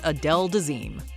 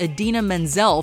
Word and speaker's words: Idina Menzel: John Travolta introduces Adele Dazeem. It's not that John Travolta simply mispronounced a name.